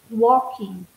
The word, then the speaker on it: walking: the piano and careful how you pronounce this you don't hear the L even if you write it it's walking oh geez Lonnie and this